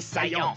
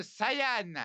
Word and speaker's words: Saiyan: chose que tu perdras prince des saillants ça se prononce Saian je m'en fous je